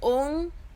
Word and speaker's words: Oankar: So Guru Paramatma created this earth with this sound of Oankar. So basically the sound was ong, so that is why the first ong is very important to pronounce it correctly.